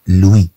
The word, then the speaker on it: lui: طبعا مع ال إي إي تنطق لوي.